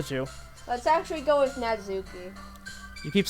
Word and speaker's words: Natsuki: Let's actually go with Natsuki. You keep saying Natsuki. It's Natsuki. Natsuki. There you I go. cannot pronounce her name.